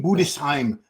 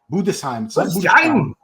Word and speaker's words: Budesheim: way from Germany and we got the correct pronunciation in his posing routine it's Tim budesheim budesheim yeah we've been saying it wrong all us non-germans so